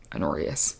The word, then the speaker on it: Honorius: Think if Joffrey had a little less audacity, I would give that to her brother, Honorius, spelled like honor, I-O-U-S, Honorius.